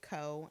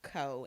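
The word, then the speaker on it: เกาะ: them on a map, they say Ko, and I could be pronouncing this wrong, but it's like Ko, whatever.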